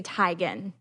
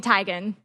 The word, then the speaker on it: Teigen: what do you mean it's actually Chrissy tigon stop yeah and she just said that everyone has always pronounced her name wrong and she just lets them stop yeah like it's all been it's all along it's been Chrissy tagging oh my gosh I